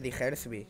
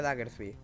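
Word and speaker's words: Diggersby: ¿Cómo se pronuncia el nombre de Digersby? Yo siempre decía Daggersby.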